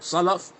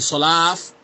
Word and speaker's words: Salaf: If somebody's talking about, hey, what's the Aqidah of the Salaf the Salih, and he cannot pronounce the word Salaf, he's saying Sulaaf.